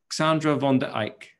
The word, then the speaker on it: Xandra van der Eijk: you are we I've been pronounced practicing the pronunciation of your name Sandra Vonda Ike that's completely correct thank you for that taking